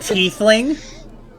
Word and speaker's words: tiefling: It's pronounced it's like tiefling.